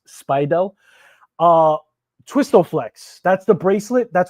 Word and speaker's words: Speidel: I think that's how it's pronounced, Speidel.